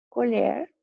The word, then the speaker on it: colher: Colher, que é um talher, e colher, do verbo apanhar.